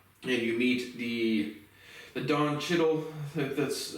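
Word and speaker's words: Don Cheadle: movie opens up and you meet the the dawn chiddle that's how you say his name character of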